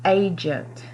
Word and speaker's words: agent: If you said soft J, you're correct, because the letter G is followed by E and it makes the J sound in agent. Our next word is cage, and the letter G is followed by the letter E.